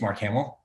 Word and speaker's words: Marc Hamel: I mentioned that uh my name is Mark Hamill not spelled the same and I was bored